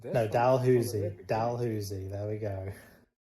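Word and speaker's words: Dalhousie: Dalhooie.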